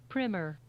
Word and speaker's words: primer: settled on primer as uh I've heard professors pronounce it primer oh look at that Miriam Webster you want to hear it again primmer primmer primmer primmer primer this is my favorite